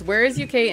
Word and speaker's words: Warezuk: I think you're pronouncing it wrong. What? Okay, be careful. It's Warezuk, and traitors are sneaky little bitches.